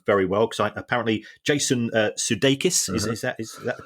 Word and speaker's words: Sudeikis: I genuinely don't know, but certainly the people involved at Ted Lasso are doing very well, because apparently Jason Sudeikis is that the correct pronunciation?